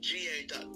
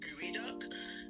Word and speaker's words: geoduck: So you know those like clams that look like penises, and it's spelled geoduck, Geo, the duck. It's actually pronounced gooey duck.